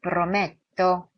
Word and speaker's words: prometto: Questo ara prometto 이중 't' 소리 인 'me', open 'e', 'prometto', tira , paura 를 굴립니다 .